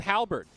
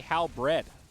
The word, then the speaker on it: Halberd: Same with Halberd. We used to say Halbred.